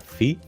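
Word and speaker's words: Φ: La próxima letra es la letra Fi, que se pronuncia exactamente como la letra F del español, como por ejemplo en la palabra filosofía, que significa filosofía.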